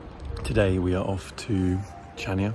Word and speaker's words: Chania: we are off to chania i think it's pronounced hania um on crete it's